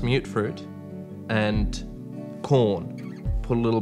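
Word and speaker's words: mutfruit: Tato, mute fruit, pronounced mute fruit, and corn.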